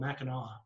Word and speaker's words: Mackinac: So it's spelled island? Mackinac Island. Mackinac. But somehow it's called Mackinac.